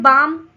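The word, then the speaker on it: balm: Then बाम बाम में भी L silent हो जाता है और सीधा आ के बाद म के साउंड आते हैं। तो यह हो गया बाम।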